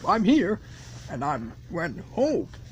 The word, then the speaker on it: Hoek: Yep, I'm here, and I'm when Hoek. It's pronounced Hoek.